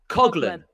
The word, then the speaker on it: Coughlin: Coughlin. Yeah. Coughlin.